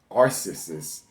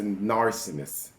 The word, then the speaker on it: narcissist: Forgive me, in the last video I kept saying narcissist. Forgive me for that. It's a narcissist. You have to always pronounce the T at the end, whatever.